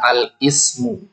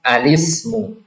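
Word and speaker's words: الاسم: Perhatikan cara bacanya bukan al-ismu, tapi al-ismu. Karena di sini hamzahnya hamzah wasal.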